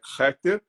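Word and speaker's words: Keter: da Árvore da Vida Que Nós chamamos né de kter embora a pronúncia é rter que quer dizer a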